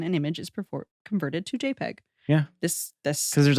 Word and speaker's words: JPEG: It's pronounced JPEG, and it's developed by the Joint Photographic Experts Group, JPEG, in 1992.